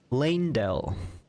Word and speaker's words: Leyndell: I would assume it's like ley line, because it's kind of spelled the first three letters, L-E-Y.